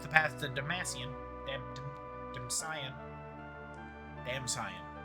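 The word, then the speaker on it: Damcyan: Dam damsion. Damsion. I keep saying Damasian, but it's not Damascian. There's no second hate.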